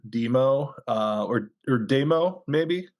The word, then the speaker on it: Dëmoe: I think I would you would probably still pronounce it demo uh or or demo